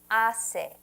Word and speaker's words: hace: It's ¿qué tiempo hace? The H is silent in Espanol. So when you see an H, you don't say that.